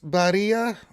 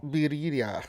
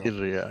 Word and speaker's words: birria: But how do you pronounce those tacos? Barilla? Tacos? Birria. Ah, there you go. Birria, yeah.